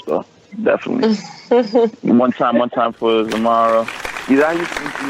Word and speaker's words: Xiomara: Do people call you Mara or is this Well, C, it's actually pronounced with a C. Like I'm sorry, say that one more time. It's pronounced with a C, like Xiomara.